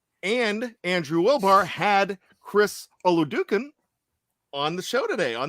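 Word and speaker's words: Oladokun: am i correct shannon chris olodukin although do i think that's how you say it yeah ola duken yeah so there you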